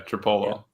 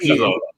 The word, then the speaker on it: Trapilo: Yeah, Tripolo. Yeah. How you say it? Trapilo. Sorry, I'm sorry. Ozzy Trapilo, my bad.